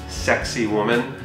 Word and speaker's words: Sacsayhuaman: The Inca ruins of Sacsayhuaman, which are kind of loosely pronounced sexy woman, are located along one of the hilltops that surround Cusco.